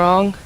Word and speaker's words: Aang: So, are you the Avatar Aang?